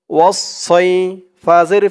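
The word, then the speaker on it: وَالصَّيْف: ওয়াও দিয়ে সদ ধরবে, ওয়াও সদ জবর ওয়াস, সদ ইয়া জবর সই, ওয়াস সই, ফাজের ফি, ওয়াসসাইফি, অক্ফ করার কারণে উচ্চারণ হবে ওয়াসসাইফ, মধ্যে লিন একালিফ টান, ওয়াসসাইফ।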